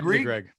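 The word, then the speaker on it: Greig: Ridley Greg.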